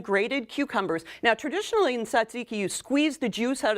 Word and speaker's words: tzatziki: Oh, yes, tzatziki. So this is homemade. How do you say it? Tzatziki. Tzatziki, okay. Yeah, it starts with a TS, so that's complicated.